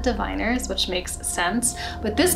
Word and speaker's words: The Diviners: it's the the diviners which i have been calling the difference for a very long time but kathy was nice enough to tell me that i was saying it wrong and it's the diviners which makes sense but